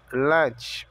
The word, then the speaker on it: lunch: E almoço, lunch. O U tem o som de A.